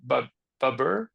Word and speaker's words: Babur: Brienne told me before this podcast how to pronounce him and I forgot again. Was it Babur Bab? That's it. King Babur got to imagine your passion.